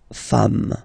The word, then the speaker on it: femmes: at the end, and as we said, you don't pronounce it, so you get des femmes, okay?